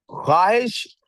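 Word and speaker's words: خواہش: की जी बेटे क्या ख्वाहिश उन चंद लफ्जों में से एक लफ्ज है जिसके अंदर वाओ साइलेंट होता ख्वाहिश लिख रहे हैं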